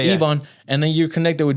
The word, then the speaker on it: Yvonne: You over here talking about DJ Yvonne, how you pronounce it? Yvonne? Yeah. Yvonne.